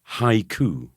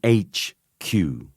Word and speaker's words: haiku: my cousin was saying I think you mean haiku Burnie a haiku not an H Q not invented by your